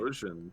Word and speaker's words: Typhlosion: Typhlosion. That's Gen 2. Okay, so basically it's a badger that's on fire, from what I can see. That's right. Okay, cool, not bad. So Evan, I'm gonna draw Typhlosion here.